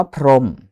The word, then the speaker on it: พรหม: เรือน ไม่ ออก เสียง คำ ว่า พรหม เห็น มั้ย ครับ หอ หีบ ไม่ ออก เสียง นะ ครับ เอ่อ คำ